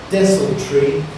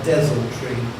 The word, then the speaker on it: desultory: There's a slight variation in pronunciation of your word. You can have desultory or desultory.